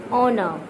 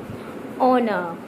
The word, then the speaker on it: honor: the silent mode of H letter while the pronouncing. Okay? I just give you example. Just notice this. Honor, honor, honor.